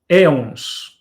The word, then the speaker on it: éons: Então, nós, didaticamente, falamos de 12 grandes éons, ou eões, né? Éons, a pronúncia brasileira, eões, a pronúncia portuguesa.